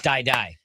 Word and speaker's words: Dai Dai: It's Dai Dai. Dai Dai. Rhyming with pie or sky. It's Dai Dai, not Day.